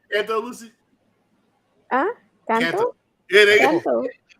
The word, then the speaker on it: Canto: Canto? Yeah, there you go. Canto. Yeah, I was like, why do you say it like that? Because that's what canto is. Canto means sing in Spanish.